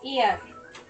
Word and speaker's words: ER: Mira, tiene un Emmy a mejor serie de ficción, perdón, por Air. ¿Ganó un Emmy? ¿Por cuál? ¿My Name is Air? No sé, no, Air. Air. No, no tengo idea. Pronunciado ER.